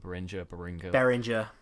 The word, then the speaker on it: Behringer: But yeah, from the mic that goes into an audio interface, which I use the Behringer. I don't know how you pronounce it. Behringer.